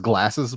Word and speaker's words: Glarses: It's pronounced glasses, but it's spelled Glarses.